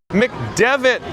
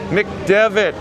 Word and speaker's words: McDevit: It's the Pete McDevit show. A dev as in developer, huh? A Linux developer. Tiki man fan. McDevit.